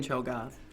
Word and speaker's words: Cho'Gath: There's an A in Cho'Gath, if you guys aren't aware.